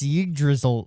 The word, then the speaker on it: Yggdrasil: It's Yggdrasil Senpai. Yggdrasil. Sherbert Yggdrasil. Yggdrasil, really? Her Yggdrasil, name yeah. is Yggdrasil, like the tree of life. Yggdrasil. The tree of life. We're gonna call her that. Yggdrasil I'm just waiting for the Senpai.